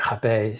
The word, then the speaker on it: Hapé: It's so like in the in the Portuguese, the R is pronounced as an H. So, but like like Hapé.